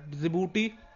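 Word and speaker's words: Djibouti: भी काफी इंपॉर्टेंट है डबल ई डीएस ध्यान रख लीजिएगा जिबूटी क्योंकि डी से स्पेलिंग शुरू होती है हालांकि डी साइनिंग है जिबूटी एरिट्रिया इथोपिया और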